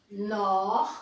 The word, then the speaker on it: nord: Nord, que termina com D, pied, froid, chaud. Então essas palavras, ou todas as palavras que terminam com D, não se pronuncia o D.